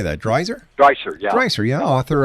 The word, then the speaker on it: Dreiser: Dreiser?